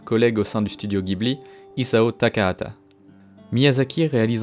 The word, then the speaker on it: Ghibli: soufflant depuis le sud la prononciation italienne serait ghibli mais au japon on constate que le non est systématiquement prononcé jebli en europe on trouve les deux prononciation qui coexistent les deux sont donc possibles et finalement c'est pas